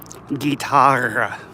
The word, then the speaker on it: guitarra: See, words in Spanish that have two R's together, you're supposed to roll your R's. Cigarra. Guitarra. Ferrocarril.